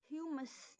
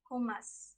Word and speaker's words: hummus: segment three to meenakshi humus that is the wrong pronunciation the right pronunciation would be who must the right pronunciation would be hummus now but please note